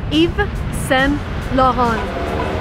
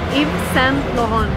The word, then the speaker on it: Yves Saint Laurent: And again, if you want to be correct, you want to read it in a French manner. So it's Yves Saint Laurent. Yves Saint Laurent. Yves Saint Laurent.